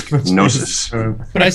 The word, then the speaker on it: gnosis: said that yeah the the g is silent it's like nosis you don't pronounce the G I say gsis right